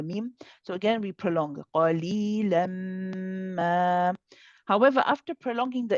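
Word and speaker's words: قَلِيلًا: If you stop on the word qalila, then you also have a mad here. You will pronounce this alif and you will remove one of the tanweens so that you pronounce one fatha. Qalila. However, if you are carrying on, which is better to do, we'll say qalilan ma.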